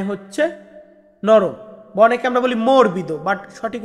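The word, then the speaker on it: morbido: একটা জিনিস নরম এই নরম টাকে বলা হয় মরবিদ মরবিদ মানে হচ্ছে নরম বনেকে আমরা বলি মর্বিদ বাট সঠিক উচ্চারণটা হবে মরবিদ মরবিদ মানে নরম নরমের পরবর্তী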